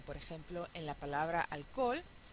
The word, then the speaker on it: alcohol: ejemplo en la palabra alcohol. Una posibilidad sería alcohol, ¿sí? Alcohol, alcohol, pero vimos en clase que podemos decir también alcohol, con lo cual nos ahorramos una sílaba.